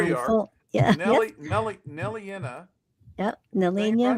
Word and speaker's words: Nelliana: Nelliana rhymes with Gardine.